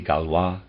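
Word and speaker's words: Gaulois: LA goloys Peter's aside spelled g-a-u-l-o-i-s possibly galwa and the reader's aside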